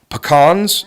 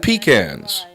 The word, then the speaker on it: pecans: As we begin this next segment, it bears mentioning that there are two names for the commodity we're featuring: pecans and pecans. Regardless of your preferred pronunciation, a lot of the nuts are sold this time of year.